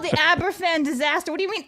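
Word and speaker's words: Aberfan: Aberdine. Oh, you just butchered the pronunciation. I'm sorry, Blabs. You're muted, by the way. It's abberan. Google it. Abberan.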